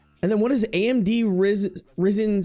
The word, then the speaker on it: Ryzen: Ryzen. It's like raisin, but with an I.